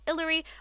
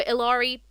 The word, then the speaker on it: Illari: and we also have Hillary or ilari I think it's illari I think you pronounce it um obviously I've